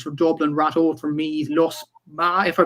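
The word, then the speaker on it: Lusmagh: In the Leinster Intermediate Hurling Championship quarterfinals, Commercials from Dublin, Ratode from Meath, Lusma, if I pronounce that correctly, Liam, from Offaly. Lusma, yeah.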